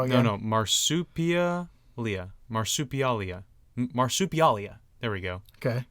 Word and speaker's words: Marsupialia: in a row again no no marsup Leia marsupialia marsupialia there we go okay I don't like